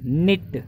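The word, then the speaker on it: knit: बिट एज इट इज़, निट, एक आपको पता होगा के और एन जब भी इकट्ठे आते हैं, नो है, नॉलेज है, नाइट है, नाइफ है, इनके अंदर के और एन का एन प्रनाउंस करते हैं अपने, है ना, तो ऐसे निट है, नोट है, ये सब चीज़ें के एन से शुरू होने वाले शब्द हैं, लेकिन एन प्रनाउंस करते हैं इसको सिर्फ।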